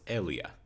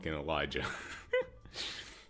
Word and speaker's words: Elijah: Okay, so it's pronounced Elia. Ela. Very weird pronunciation, but okay. I'll go with Elia, not Elijah.